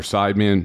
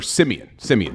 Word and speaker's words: Siemian: I guess it's Trevor Sideman. I don't even remember his name. That's how bad their quarterback situation is. But you got him, you got Taysom Hill, Trevor Siemian, that's how you pronounce his name.